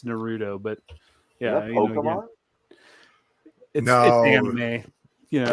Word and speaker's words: Naruto: is that how do you pronoun how you pronounce it Shane narutu nut nut I'm not I'm not like a fan I've never really watched all the anime but but it's it's Naruto but yeah anime you know it's like an